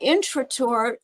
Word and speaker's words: Intrator: The way Intrada. he pronounced it, Trotter, but my father made it Intrator when he went into the American Army, so that people would understand how to spell it. But Right. you said it actually correctly. Okay. Um, I go by Intrator, but Intrator is really how it was.